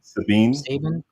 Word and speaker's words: Sabine: Sabine.